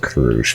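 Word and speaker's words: Crusch: I guess they need to hear from all the candidates to at least say the Okay, no, her name is pronounced Krush.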